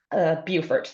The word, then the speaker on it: Beaufort: So Ruth is correcting my pronunciation. Beaufort.